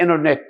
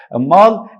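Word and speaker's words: internet: باللهجه الامريكي في النطق فما تقولش عليها عليها عليها انترنت ذ انرنت تعال بقى بيقوللك الامريكان يقوللك الان لو فول باي تي ومش هعمل ستوب على تي هتبقى التي هنا ايه سايلنت وذا طبعا معروف في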